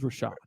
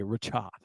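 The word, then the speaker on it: Rachaad: time you say it oh it's Rashad white his name's Rashad you always say richad SC stop anyway I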